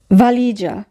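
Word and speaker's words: valigia: লি এখানে উজ থাকবে ভালিজা ভালিজা সুটকেস এখানে যদি বানানটি ফলো করি সবার শেষে আছে জি ই আ এই তিনটি বর্ণ মিলে হবে যা তাহলে উচ্চারণ হচ্ছে ভলিজা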